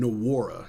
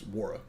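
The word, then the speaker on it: Nwora: I learned yesterday that Wara is pronounced Wara. Yeah, I was pronouncing the N Nawara. No Wara. It's Wara.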